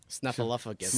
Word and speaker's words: Snuffleupagus: There's no P in there. No. Snuffleupagus. No. Snuffleupagus. Yeah. No P in it.